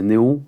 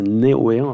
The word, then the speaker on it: Neoen: Je disais Néo, mais là c'est Neoen apparemment.